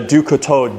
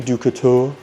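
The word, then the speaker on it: Du Couteau: I was having a hard time figuring out how to say her last name. Ducato. It means knife in French.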